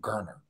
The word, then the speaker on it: Garner: It's Garner. That's how you pronounce it, Garner.